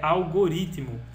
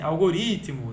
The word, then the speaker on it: algoritmo: Atenção a isso, então é algoritmo. Porque naturalmente a gente faz assim, algoritmo, né? A gente pensa que essa sílaba aqui tem uma força maior do que ela realmente tem e queremos colocar o acento.